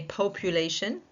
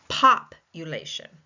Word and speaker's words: population: So we may say population in the states. Second last syllable is still taking the stress. We see it like this. But I tend to say as a Canadian and you'll see it is the U the UK pronunciation papulation papulation.